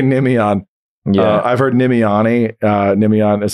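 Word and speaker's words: Nimiane: I've heard Nemione. Nemion is like the one. For me, the best thing about Harry Potter was I could just say, no, it's like Hermione. It just rhymes with Hermione.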